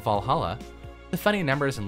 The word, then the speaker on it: VA-11 Hall-A: a 1:1 hull a the name sounds silly and a bit hard to pronounce good thing that's actually called Valhalla the funny numbers and